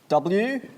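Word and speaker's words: Woibrusss: So it's spelt W-O-I-B-R-U-S-S-S exclamation mark. And the punctuation is very important. And it's pronounced Woibrus.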